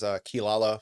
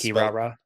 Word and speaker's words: Kirara: The one I remember from as a teenager was Kilala from Inuyasha. Yep. It's Kirara. Yeah, so it's that one always gets me. I'm like, oh yeah, that's right. No, that's not actually how you say it.